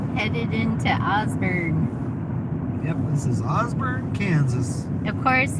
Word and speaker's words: Osborne: headed into Augsburg Osborne Kansas of course it's spelled o-s-b-o-r-n-e and of course people call it Osborne yeah they pronounce everything